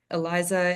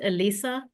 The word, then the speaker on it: Elisa: So Eliza, if those amendments are made, please vote indicating with that. I'm sorry. Then, my name is pronounced Elisa. I know that there's another Eliza somewhere.